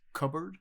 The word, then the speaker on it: cupboard: Or even just how you say it, cupboard, but it's pronounced cupboard. It's like you almost slur the word completely.